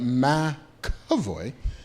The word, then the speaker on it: McAvoy: They spell out like phonetically. Yeah, so you get it right. McAvoy.